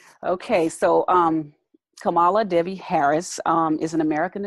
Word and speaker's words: Kamala: and I think it's is it pronounced camel Oh Oh Kamala I thought it was Kamala Kamala Harris I think you're right yeah Kamala um yeah it is Kamala because I love phonetic